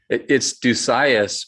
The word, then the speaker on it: Dusias: It's Dusias, but the actual Greek pronunciation would be Dusius or Odusia.